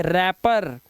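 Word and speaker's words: wrapper: Right, रैप, ध्यान से देखना डब्ल्यू को नहीं, ये देखो इसे रैपर है ना।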